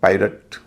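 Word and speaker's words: pirate: इसी तरह पायरट, direct या डायरेक्ट, सायरन।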